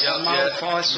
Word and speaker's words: Maleface: Maleface.